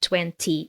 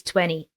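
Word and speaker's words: twenty: letters and T, natives usually drop the T sound, right? So it's not 20, it's 20.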